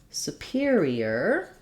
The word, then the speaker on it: superior: superiority so we have superior superior has stress on the peer syllable and then superiori already